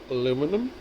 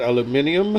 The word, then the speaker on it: aluminium: not stainless steel nor aluminum, whereas the Brits call it aluminium. I don't know, somebody seems to have added an extra syllable, or maybe us Americans took a syllable out of it, but that's not how it's spelled.